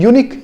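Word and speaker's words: unique: तो इसको हम पढ़ के देखते हैं, इसको हम यूनिक नहीं पढ़ते हैं, यूनिक नहीं पढ़ते ना, अनिक भी नहीं पढ़ते।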